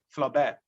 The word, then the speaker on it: Flaubert: spelling g-u-s-t-a-b flaubert f-l-a-u-b-r-t in french the last consonant is most of the time is silent flaw bear then we have the